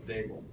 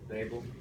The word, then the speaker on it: Daboll: Yeah, so it's Daboll. D like table, Daboll.